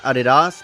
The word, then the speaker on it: Adidas: Because apparently over in Europe, it's supposed to be pronounced Adidas, but in America, we just call them Adidas.